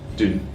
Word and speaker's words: doon: No, so it should be like a short and less rounded. So doon. Doon.